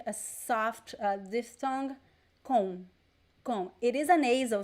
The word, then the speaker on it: com: con so remember that the letter m in portuguese when it is placed at the end of words the m does not sound like a regular m we don't touch the lips to pronounce it is not come no it is it sounds a little bit like as if it were something like this more or less okay there is no m sound there is like a